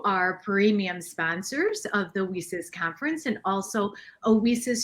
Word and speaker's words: WiCyS: WESIS Executive Director. We often go by our acronym WICYS, and it's pronounced WESIS, like We Sisters, and that's exactly what we are.